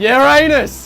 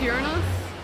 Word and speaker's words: Uranus: Uranus! Yes, mate. It's actually pronounced Uranus. It's actually pronounced Uranus.